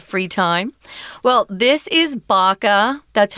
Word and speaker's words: BACA: Well, this is BACA. That's how we're pronouncing the acronym BACA, and it stands for Bikers Against Child Abuse.